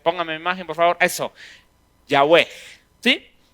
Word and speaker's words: Yahweh: Yahweh. ¿Sí? Yahweh. Y usualmente eso se escribe como Y-A-W-H-E-H.